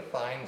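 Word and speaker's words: Thien: Now this is one of the fine, I think it's pronounced fine, T-H-I-E-N is the guy that invented this thing years ago.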